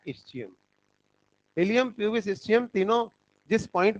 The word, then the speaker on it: ilium: का, ये कहलाता है इलियम। स्पेलिंग याद रखना, ILIUM। ऐसे बेवकूफ बनाने वाले क्वेश्चन आते हैं नीट में, ई लगा दोगे तो इंटेस्टाइन हो जाएगा, ठीक है। तो ILIUM, इलियम।